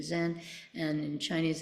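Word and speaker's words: 禅: Korean it's Sun um we use the Japanese pronunciation Zen and in Chinese it's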